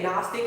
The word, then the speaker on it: Gnostic: of people they say Gnostic like gnostic, but it's like real G's moving silent like a Zion Little Wayne. The G is silent.